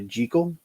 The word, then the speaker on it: Jekyll: are the damned the two faces of dr jekyll or dr jikel as it's actually pronounced uh the old dark house that has